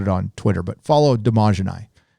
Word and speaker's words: Dmajini: It is, I will, next time they go live, I'll put it on Twitter, but follow Damajani. It's DMAJINI. It took me about a year to say his name right.